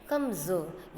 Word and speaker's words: कमज़ोर: बोल रहे हैं, क्यों, क्योंकि जो के नीचे आप देख रहे हो कि बिंदु लगा है, तो इसको हम क्या पढ़ेंगे, कमज़ोर। ये इसका जो उच्चारण है वो ज में आ जाएगा, और आधा जौ के नीचे कोई बिंदी नहीं है तो वो जौ में आएगा, तो इसको हम क्या पढ़ेंगे, कमज़ोर, कमज़ोर, ठीक है।